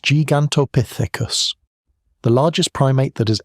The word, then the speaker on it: Gigantopithecus: Gigantopithecus blacki, pronounced Gigantopithecus.